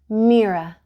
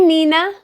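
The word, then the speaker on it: Mirha: couldn't say it right they stretched out the I until it sounded like an e and their R sounded wrong some people even forgot the H hey Mina Miriam MAA hey Miro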